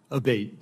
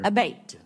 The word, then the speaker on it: Abbate: I saying your name properly we've heard it pronounced three different ways today in the hearing aate Senator aate okay thank you um you had mentioned a